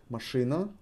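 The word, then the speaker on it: машина: first word let's take mashina do you remember the translation for machine Ma she Ena with the emphasis on E mashina is car after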